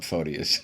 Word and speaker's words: Photius: Let's call him Photius, okay. There'd be an unfortunate similarity with the pronunciation of excrement if I were to say Photius.